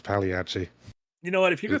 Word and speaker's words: Pagliacci: should go see this Pagliacci? clown. Pagliacci. That's the one. Yeah. Pagliacci. My roast ruined. My roast ruined. It's spelt Pagliacci, but I'm pretty sure it's pronounced Pagliacci.